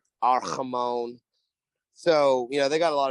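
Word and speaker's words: Amon-Ra: They had Armand St. Brown back. Yeah. Didn't pronounce his name right, butchered it. Fine. So Ramon. Arhamon.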